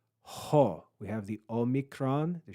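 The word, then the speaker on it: ὁ: this rough breathing Mark it's equivalent to adding an English letter H before the Greek vowel so this is pronounced ho ho we have the Omicron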